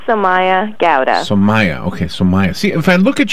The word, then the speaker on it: Somaya: good she'll be samaya Gallaudet so Maya okay so Maya see if I look at your name I